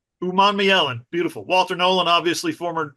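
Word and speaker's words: Umanmielen: I've never been able to pronounce this. Uman Mielen. Uman Mielen.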